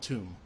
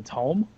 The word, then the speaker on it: tome: We'll call it a tomb. Fell out of his What's a tomb? You mean a tome? TOME. Tome. Tome. Don't. No, but where I come from, we pronounce it tomb.